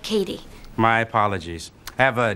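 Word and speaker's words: Cady: Girls her name is caddy caddy Heron where are you caddy that's me it's pronounced like Katie my apologies I have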